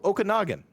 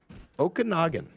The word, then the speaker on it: Okanagan: Oh, Okanagan. Yeah, that's right. That's how you phonetically say it. Okanagan.